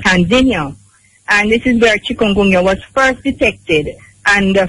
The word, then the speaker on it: chikungunya: of this name and why is it called chikungunya? Why is it called that? Chikungunya. You're pronouncing it very well.